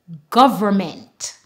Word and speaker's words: government: condemn Dam him Solem here is a word with n m and the N is silent however you can also pronounce the end sound government thank you very much